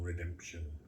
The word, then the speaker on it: redemption: nothing kinder foul redemption that word redemption is actually four syllables across at the end too just to stretch it out it's a whole redemption so she's making as